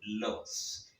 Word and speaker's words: los: Comme vous pouvez prendre compte, le S final se prononce toujours en espagnol.